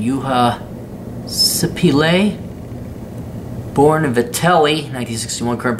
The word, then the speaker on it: Juha Sipilä: Juha, Finnish pronunciation, Juha Sipilä, born in Vitelli, 1961, current prime minister, a relative newcomer to politics.